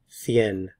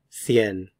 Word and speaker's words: cien: Speakers from Spain will pronounce this cien, cien.